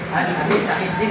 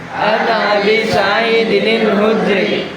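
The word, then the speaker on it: عن أبي سعيد الخدري: Jadi kalau anak-anak menemukan tanwin kemudian di depannya ada alif lam maka harus ada nunnya muncul. Jadi an Abi Saidinil kayak di Quran surah Al-Ikhlas ya kalau mau disambung itu bacanya an Abi Said Abi Saidil itu salah kurang cepat coba ulangi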